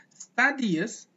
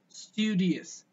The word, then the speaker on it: studious: its way of pronunciation so that's not studies that's actually it's tedious studious that's actual studious see guys that sound